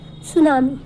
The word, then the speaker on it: tsunami: Next है सुनामी। सुनामी, सुनामी, अ सुनामी pronounce as सोनामी। सुनामी को कैसे प्रोनाउंस किया जाता है, सोनामी।